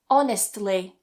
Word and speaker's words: honestly: Honestly. Honestly. To make your life a little bit easier here, what you can do is cut that T in the middle. So, you can just say honestly.